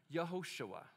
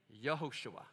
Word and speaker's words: Yehoshua: You would pronounce this baby's name in Hebrew, Yehoshua. Say it with me. Yehoshua. Yehoshua.